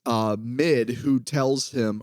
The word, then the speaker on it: Mid: I guess it's uh Mid who tells him or as they pronounce it me uh which fine uh